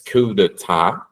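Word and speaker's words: coup d'état: You don't pronounce the P. It's kuda well in Brazil.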